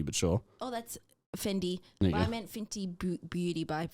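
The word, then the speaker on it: Fendi: brand it's an easy that's not how you pronounce it it's not a t but sure oh that's fendy I meant Fenty Beauty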